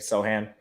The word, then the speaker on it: Sochan: all right i'm gonna whiff on the correct pronunciation here um sochan from baylor yes yeah that's how you say it sohan so show hand okay um i'm fascinated by